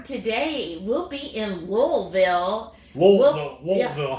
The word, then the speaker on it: Louisville: Louisville. Yeah. How can you say it right? Louisville. It's like L-U-L. Okay. L-U-L. Louisville.